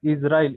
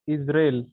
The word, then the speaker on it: Israel: The country, yes, it's not Israel, it's Israel, है ना?